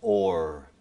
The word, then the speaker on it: hour: And in original pronunciation, in Shakespeare's time, the word hour was pronounced or.